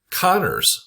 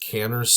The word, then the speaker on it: Kanner's syndrome: Um Kanner's or Kanners syndrome, depending on who you talk to. I've heard it pronounced different ways.